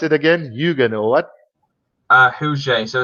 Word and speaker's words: Huget: Because Huget. Oh, okay, Huget. Because I would say Higet, plain Yeah. South African flavor to it. But you say what's it again? Hugen or what? Huget.